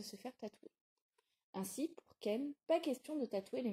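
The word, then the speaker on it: 剣: Ken a collé un gigantesque Ken, un kanji qui, dans l'alphabet japonais, se prononce Ken et signifie épée ou sabre.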